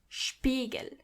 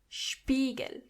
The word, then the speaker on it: Spiegel: When you see an S before a P, you have to automatically pronounce the S as sh, even if there is no C or H. The S is pronounced as sh as long as there is a P after it.